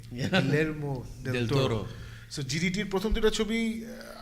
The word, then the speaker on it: Guillermo del Toro: It's just beautiful pieces of art, and the first two Hellboy movies যেটা করেছিল Guillermo del Toro, I can finally pronounce his name. Guillermo del Toro.